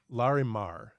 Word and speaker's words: Larimar: look like they are oh sorry it's larry larimar l-a-r-i-m-a-r i didn't have that there okay sorry